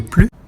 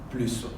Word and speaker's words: plus: J'en veux plus. Chacun a prononcé la phrase de sa manière, mais ça dépend. Il y a trois manières de prononcer l'adverbe plus. On peut prononcer plus, plus ou plus.